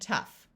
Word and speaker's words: tough: a few words where GH sounds like the letter F in in both of these words the o u will have a short u sound so this is rough and tough like I said most